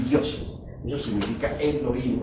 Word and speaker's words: Elohim: y dioses Eso significa Elohim o mejor dijéramos Elohim porque la H se pronuncia como J estos Elohim son como